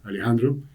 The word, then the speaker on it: Alejandro: chistes con mis hermanos la pronunciación puede ser más parecido a una e entonces puede ser en lugar de eh Alejandro podría fíjense la la segunda vocal de Alejandro Alejandro puede ser más una que en inglés y en